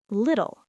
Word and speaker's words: little: Little. Little. The T's sound like D's.